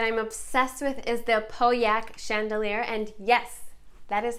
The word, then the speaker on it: Pauillac: Next, another chandelier that I'm obsessed with is the Pauillac Chandelier, and yes, that is how you pronounce it.